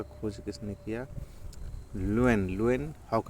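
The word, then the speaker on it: Leeuwenhoek: देखिए इसमें ल्यूएन Loen new न्यू करके थोड़ा सा उच्चारण आ रहा है। लुएन हॉक तो अगर एग्जाम हॉल में आए तो आप ऐसे कर दीजिएगा। लयनहॉक जीवित कोशिका का।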